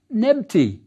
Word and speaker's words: Nebti: We call this the 2 ladies' name, and it was pronounced Nebti, the dual form of Nebet, lady.